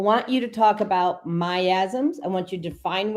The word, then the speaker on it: miasm: every disease was a myasma. Now we say myasm but it was a myasma.